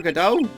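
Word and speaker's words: Godot: dot dummy I don't because I know it's pronounced gdau and also there was a joke about the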